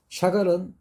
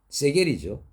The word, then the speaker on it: 샤갈: 수많은 비난이 쇄도를 합니다 샤갈은 러시아 사람이었습니다 세겔이죠 누군가가 도와줍니다 그래서 프랑스에서 그림을 그려주고 안착할 수 있었죠 그런 프랑스 고마워서 샤갈은 자기 이름을 프랑스의 발음인 샤갈로 바꾼 겁니다 샤갈 일년 7개월 동안 그랬습니다